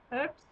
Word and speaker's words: urbs: Urbs, urbis, yeah, it's pronounced more like a P. Urbs, urbis.